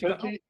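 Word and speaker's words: Pentti Glan: It's Pentiglan. Oh, okay. Pentti Glenn.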